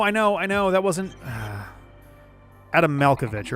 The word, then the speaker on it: Malkovich: Adam Malkovich, right?